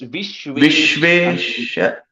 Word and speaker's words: विश्वेशवन्द्या: On the third line, the first word, I'm hearing an extra syllable somewhere. It's Vishveshavandhya. Yeah, that's it. Yeah.